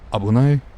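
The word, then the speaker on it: 危ない: Looks like the red kanji just says dangerous, pronounced abunai.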